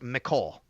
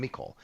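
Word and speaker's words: Mecole Hardman: But then I get to you just signed Micole Hardman. And by the way, so everybody knows, I would his he he want his name is pronounced Micole so everybody knows.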